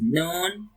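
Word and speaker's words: نون: So this is noon. Like moon.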